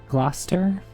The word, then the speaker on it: Gloucester: It should be more like gloss gloster. Glosser. How hard do you um say the tea? Gloucester.